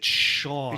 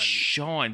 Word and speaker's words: Cian: So it's tough to pronounce. It's Sean. It's Sean.